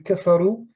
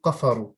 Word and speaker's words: كفروا: Et aussi, j'ai entendu kafaru. Tu avais prononcé le kaf comme un qaf. J'ai entendu qafaru.